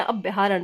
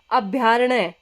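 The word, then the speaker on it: अभयारण्य: हम बोलते हैं अभ्यारण, तो अभ्यारण कोई शब्द नहीं होता, शब्द होता है हमारा अभ्यारण्य। क्या है? अभ्यारण्य। अण्य आधा आएगा, यह पूरा अभ्यारण्य।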